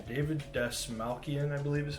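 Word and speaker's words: Dastmalchian: David Desmalkian, I believe is how you say his name.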